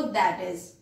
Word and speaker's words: i.e.: आप रिटन में जब इसको लिखोगे तो आई डॉट ई डॉट लिखोगे, लेकिन जब आप इसको बोलोगे तो आपको प्रोनाउंस करना है इस वर्ड को दैट इज।